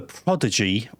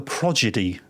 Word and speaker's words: prodigy: There's this problem I have with what I call the prodigy. The D before the G. But I think it's my stepdad. Big fan. Always causing the progedy. Puts the G before the D. And now I always question myself. Am I saying it right? Prodigy. Maybe I'm saying it wrong.